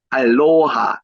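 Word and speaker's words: aloha: 한국말로는 안녕하십니까 안녕하세요 이건데 알로하 여기에 로의 액센트가 있습니다. 그래서 손을 흔들며 알로하 인사하며 하와이를 맞이합니다.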